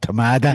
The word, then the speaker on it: Tamada: Poor old Tamada. He only rhymes with Ramada.